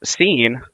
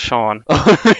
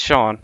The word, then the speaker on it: Sean: Then Sane says, Seene, um I believe it's pronounced Shawn. Yeah. I used to make that mistake all the time. No big deal. Really? Oh, yeah. It's It's Sean.